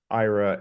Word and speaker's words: Aira: again Ira um it's it's spelled a i r a but think of the a as silent and I adapted this